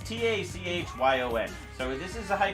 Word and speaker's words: Tachyon: It's like Taiyun or Taiyun. It's Tachyon.